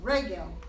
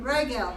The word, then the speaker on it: regel: Emphasize the first syllable. No, regel. Hey, here's bread. Yeah, there you go. Regel, not regel. The problem is that once you learn to pronounce a second syllable, that you want to do it all the time. But it's regel, not regel.